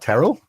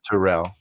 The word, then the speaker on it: Terrell: And you pronounce my name correctly. What is that about? Uh, what? Terrell?